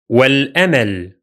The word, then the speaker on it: والأمل: The first one is going to be والأمل. والأمل. والأمل. Here, only the Hamza of al is silent because it's Hamzat al-waṣl, and it occurs in connected speech. The second Hamza is still pronounced because it is Hamzat al-qaṭʿ, which is always pronounced.